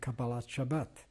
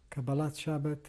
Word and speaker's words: Kabbalat Shabbat: the Maariv prayer and Kabbalat Shabbat. Kabbalat Shabbat or Kabbalat Shabbos, depending on which particular pronunciation of Hebrew you prefer, is the welcoming of the Sabbath.